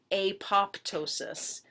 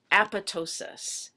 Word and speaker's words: apoptosis: horribly horrible looking word it looks like it should be pronounced apoptosis but we pronounce it as apotosis and that process is